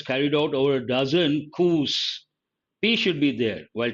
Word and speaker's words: coup: have used a cous the letter p is silent coup with all being no